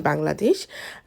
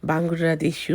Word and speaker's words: Bangladesh: এই যে ধরেন আপনাদেরকে দেখাচ্ছি, এই কাপড়টার ট্যাগের পিছনে লেখা আছে যে মেড ইন বাংলাদেশু, এখানে এভাবে উচ্চারণ করে।